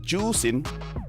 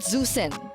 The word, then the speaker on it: Juicin: No, it's pronounced as Juicin. Juicin. So it's not Zusin.